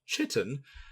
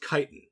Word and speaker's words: chitin: She said, by the way, it's not a ch sound, it's a hard k sound. And I was like, are they called Kittenbucks? Whoa! And then I looked it up, and they're chitin, not kitten.